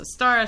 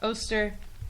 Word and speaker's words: Ostara: pronounced this way, and in a lot of places it says it's pronounced Ostara, some places it says it's pronounced Oster, you know.